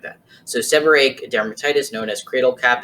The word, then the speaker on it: seborrheic: So the first type of dermatitis is seborrheic. If you don't know how to pronounce that, you're basically going to make this H silent and look at it as one R, so it's seborrheic.